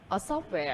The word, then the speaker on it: software: Software. Software is any program that you load onto your computer. Software. Stress on the first syllable, right? On the first element of the compound.